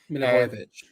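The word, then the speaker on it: Milivojević: Milivojevic.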